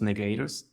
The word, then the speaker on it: Negreiros: My last name is pronounced Negreiros.